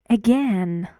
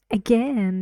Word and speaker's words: again: Again. Again, yes, 2 syllables. And you see in British English you can both say again and again. Both of them are true.